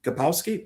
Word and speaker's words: Kapowski: How do you pronounce her last name? Kapowski.